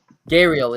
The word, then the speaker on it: gharial: Gariel is the pronunciation. I'm being told by Control right now. Those things are ugly. Yeah. So crocodiles, alligators, caimans, and gharials.